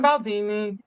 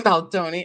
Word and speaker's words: Baldoni: Because we're getting into the whole Justin Baldini, Justin Baldoni, I'm sorry, forgive me, Justin Baldoni and Girl, he Blake deserves to have Lively, his name the feud, mispronounced.